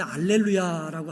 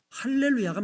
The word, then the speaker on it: 할렐루야: 그런데 작은 따옴표를 반대로 이렇게 돼 있으면 이거는 H 발음이 됩니다.